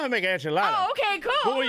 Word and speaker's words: enchiladas: Oh, yeah, I know how to make enchiladas. Oh, okay, cool. But when you said enchiladas. I said enchiladas. You had that little flair on it, man. I said the way it's supposed to be pronounced.